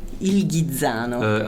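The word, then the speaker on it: Il Ghizzano: Ilgano.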